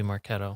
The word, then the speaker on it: Marketo: Is it Marketo or Marketo? Oh God, It's got to be Marketo. damn.